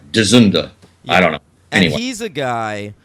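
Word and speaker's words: George Dzundza: character actor George dunda is that how you pronounce that dunda yeah I've said zunza no I think it's dunda I think it's I think it's Hungarian so I think the D is like like dorak like Czechoslovakian you know like dunda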